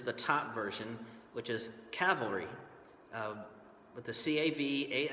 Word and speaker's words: cavalry: the two different versions the correct way for to pronounce the word for horse soldiers is cavalry that did I just do it again cavalry with the L towards the end and cavalry is something